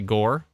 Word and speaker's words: Gower: like Tower Ray says go like Tower North Gower that makes sense Gower someone says Gore locals say Gore Gore Gore okay clearly there's a it's never